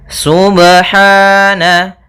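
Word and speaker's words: سبحان: Apabila ada huruf ba dia harakatnya sukun maka ada hukum qalqalah, maka harus dipantulkan dalam membacanya. Hati-hati juga dalam pantulannya, jangan sampai ada tambahan hamzah atau di dalam bacaannya ada sakta, misalnya subhana, ini sakta.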